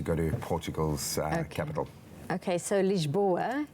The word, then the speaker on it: Lisboa: to Portugal's okay so lisboa is how you say this boy it's the guest